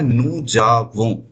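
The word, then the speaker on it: nous avons: ध्यान रखना इसका प्रोनाउंसिएशन है नू जावों।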